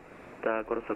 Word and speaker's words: Curaçao: Oh, good job we heard about Curaçao and pronouncing it properly, because I got that wrong earlier. 642, contact Curaçao Control 119.6 when established.